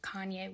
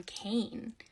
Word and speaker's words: Kanye: I used to pronounce his name Kane because I'm a little dyslexic and that's how I read it.